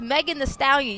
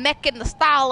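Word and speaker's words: Megan Thee Stallion: it like that that's it's megan the stallion you keep saying mech in the style and stop saying that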